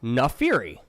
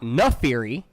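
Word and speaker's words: Naafiri: Okay, now it's also Nafiri. Nafiri, not Nefiri.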